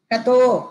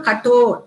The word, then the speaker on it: Katho: இங்கிலீஷ்ல எழுதும் போது கட்டோ உபனிஷத்தை KATHO கத்தோ உபனிஷத் அப்படின்னு எழுதுவா, ஆக்சுவலா அது கத்தோ அப்படின்னு நம்ம படிக்க கூடாது, ஆக்சுவலி அது எப்படி படிக்கணும், கட்டோ ட செகண்ட் ட கட்டோ உபனிஷத் அப்படின்னு தான் இதை நம்ம ப்ரொனவுன்ஸ் பண்ணணும்.